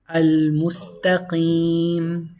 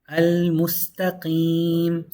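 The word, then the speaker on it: المستقيم: If you're starting from Hamzatul Wasla, you read it as a Hamza. So it's Al right here. Al-Mustaqim. The lam is pronounced 100% because the meme doesn't have a Shaddah. So this is a moon letter.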